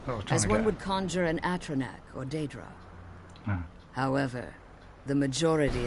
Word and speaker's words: Atronach: just proved that I have been pronouncing patronage Ron so yeah because I I also astronaut for some reason I don't seem to say the names wrong but it's Atronach I've been playing that wrong so I know I